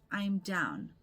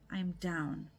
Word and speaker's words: I'm down: Pronunciation tip. I'm down. Sounds like one word. I'm down. All right. instead of two separate words.